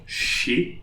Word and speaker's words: chez: So, CH will be like English SH. So, chez. Chez.